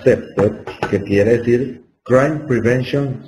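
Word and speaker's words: CPTED: El CEPTED, la prevención del crimen del diseño ambiental, es la traducción al español de un acrónimo del inglés que se pronuncia CEPTED, que quiere decir Crime Prevention Through Environmental Design.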